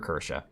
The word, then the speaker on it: Kirsche: And that's Kersha. And I'm going to try to pronounce the E extra hard tonight because a lot of people were criticizing my video when I said Kersh or Kersha.